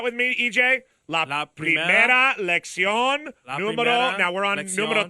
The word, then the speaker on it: lección: All right, just tell him how to pronounce it then, and we'll just move on here. It's la primera lección. La primera lección, and then the number?